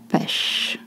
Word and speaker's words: pêche: This little accent, le hat, is called accent circumflex, and you make a sound. E is short, your lips are stretched. E, la pêche.